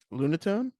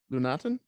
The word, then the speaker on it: Lunatone: name is Luna tone Lunatone Lunatone lunaten nothing uh lunatic I don't think it's lunaten no I'm just uh I don't think the E is silent I think it's Luna tone is it just spelled